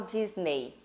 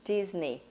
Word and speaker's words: Disney: Então, neste caso mesmo, Disney, eu corto a letrinha E, faço um X em cima dela para lembrar que eu não falo Disney, e sim Disney, né?